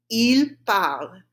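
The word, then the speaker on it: ils parlent: This is a funny one because E-N-T is silent. Say it after me. It's il parle. Il parle. Right? So the il, you don't pronounce the S, and the parle, you don't pronounce the E-N-T, and you could say,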